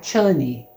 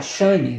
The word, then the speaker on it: Chani: E ele faz esse casamento por conveniência, mas ele tem como a verdadeira esposa dele mesmo a Chani, ou a Shani, depende da forma como você pronuncia ela, o nome, que é então a garota Fremen que ele tem contato desde o primeiro livro.